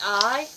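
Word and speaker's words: い: mixed up is because i is pronounced like a long e sound and the character that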